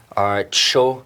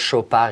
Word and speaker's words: Chopard: show party a no no D at the end as well don't say Art Show there is no tea in front of the the first part of the world of the brand so just show pad is just wonderful so once again yes